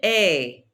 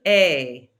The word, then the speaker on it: es: Répétez, tu es. Don't pronounce that S. Tu es.